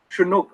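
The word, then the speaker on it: Tiyanak: Anyway, Higante Tembok Tayanak. You have a very unique name. Tayanak is pronounced Chinook.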